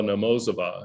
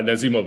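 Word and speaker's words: Nazimova: friends with uh namo i'm going to mispronounce it a la namosava am i i'm getting the syllables wrong is that right i always put the emphasis on the wrong things yeah yeah nazimov i think is right who was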